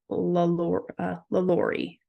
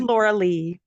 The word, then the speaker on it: LaLaurie: What was I saying? I think I was saying it wrong. Anyways, the correct name of it was the LaLaurie mansion. Right. I think it's because I read it so many times. You said Laura Lee.